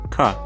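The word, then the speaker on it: क: This letter is pronounced ka. An important thing to understand about the Nepali alphabet is that all consonants by themselves end in that sound.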